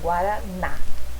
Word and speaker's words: Guaraná: Então, por exemplo, Guaraná. Onde está a sílaba mais forte? Tônica. É no na.